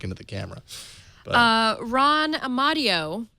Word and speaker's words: Amadeo: the camera uh Ron amadio whose last name I always mispronounce as Amadeo Amadeo Rock Me Amadeo